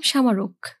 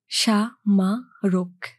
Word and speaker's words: সামারক: নাম আছে বসুন ভাই আমার নাম সামারক আমি প্রতিটি বর্ণ আলাদা করে উচ্চারণ করলাম সা মা রোগ ছোটবেলায় সোনা একটা পুথির